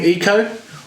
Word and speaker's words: Ico: If anyone doesn't know about it, it's from the Team Eco or Ico, depending on how you want to pronounce it.